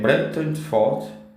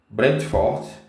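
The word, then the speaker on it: Brentford: A3 contra o eh brenton Fort Brent Fort É acho que a pronúncia certa para essa equipe campeonato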